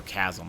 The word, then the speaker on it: chasm: Or Chasm, I think. I think that H is silent.